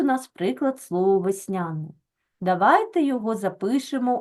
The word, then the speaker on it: весняний: е передає звук е Але що ми одразу робимо ми ставимо наголос в цьому слові весняний Так отже у нас е не наголошений А ми знаємо що якщо у нас е знаходиться в ненаголошеній позиції то він у нас наближується за вимово до и і ось так ми